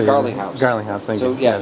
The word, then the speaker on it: Garlinghouse: Gerling, I always forget how to say it. Garlinghouse.